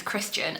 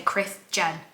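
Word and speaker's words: Krisjen: proper sentences so the the fmc's name is Christian and it's spelled k r i s Jen which really really irked me to no end but I just every time I saw the word I wanted to say Chris Jen not Christian but I to force myself to like visualize it as the way Christian is spelled but somebody's put Chris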